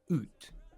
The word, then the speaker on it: août: And then is it août?